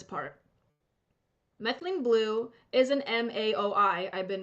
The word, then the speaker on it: MAOI: out is this part methylene blue is an M aoi I've been mispronouncing it I said m o AI it's m aoi uh methylene blue is an